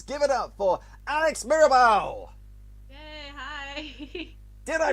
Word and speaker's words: Mirabal: us here capers give it up for Alex Maribel did I pronounce that name correctly yes actually surprisingly I